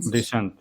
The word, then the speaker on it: descent: Descent. Yeah. So they are yeah. The stress is on the second syllable everywhere.